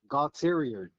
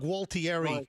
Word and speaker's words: Gualtieri: Bob Gautterior. No, you're not pronouncing that properly.